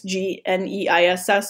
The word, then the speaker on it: gneiss: It's actually pronounced gneiss, G-N-E-I-S-S.